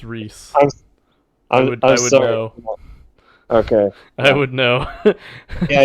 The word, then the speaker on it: Rhys: fans i don't know yeah he's welsh it's rhys okay i would know